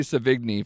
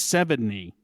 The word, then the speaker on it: Sevigny: I've been calling her Chloe Savigny for years. How would you guys pronounce it? I believe it's, should I say it? Because I think I know it. It's Sevigny.